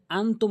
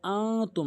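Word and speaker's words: أنتم: তা বলতে হবে তা এখানে আনতুম অনেকেই বলে আতুম সঠিক উচ্চারণ এখানে এক আলিফ টেনে উচ্চারণ করতে হবে এবং আইন হলকের মাঝখান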